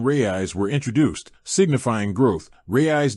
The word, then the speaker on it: Raiz: Rayis being phonetically similar to rays.